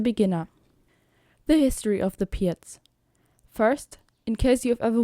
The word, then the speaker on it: Pirc: The Pirc is easy in that matter, that you have a few setups that are similar against multiple white responses.